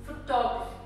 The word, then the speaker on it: photography: When becomes an art, it becomes photography. The stress moves on to the second syllable.